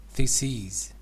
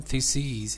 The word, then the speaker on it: theses: Theses. Thesis. Okay. Yes. For example, thesis is the singular form. Theses is the plural form with long E.